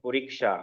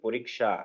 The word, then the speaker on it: পরীক্ষা: উচ্চারণটা কি করতে হবে পরীক্ষা সবাই ভালো করে শুনবেন পরীক্ষা হ্যা এটাকে আমরা একটু ভেঙ্গে যদি বলি কিভাবে বলতে হবে প্রথমে পরি তারপরে পরী সা পরীক্ষা উচ্চারণটা এভাবে করতে হবে পরীক্ষা হ্যাঁ পরীক্ষা তাহলে